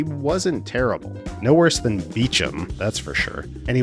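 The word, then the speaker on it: Beauchamp: This guy, whose name is spelled like this, but apparently pronounced Beecham.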